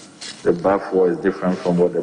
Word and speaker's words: Baffour: The name is Bafo. The Bafo is spelled B-A-F-F-O-U-R.